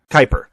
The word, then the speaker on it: Kuiper: is in the the cooper belt is it the cooper belt i know i'm pronouncing that wrong uh kuiper uh but on the